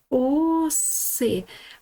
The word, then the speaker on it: оси: Читаємо оси. Наголос буде на букву О.